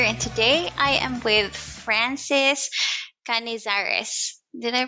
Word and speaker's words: Canizares: podcast gwen here and today i am with francis canezares did i pronounce that right france yes that's correct wonderful